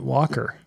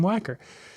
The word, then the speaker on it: Wacker: wedding, they changed it, that the family started calling it Walker. And it's like, there's no L in that. Everybody spells Walker with an L.